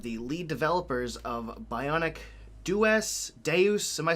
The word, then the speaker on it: Dues: It took me a while to figure out how to say the last part because I was thinking of Deus Ex. That was like the first thing that came to mind. Now, this is like paying your dues.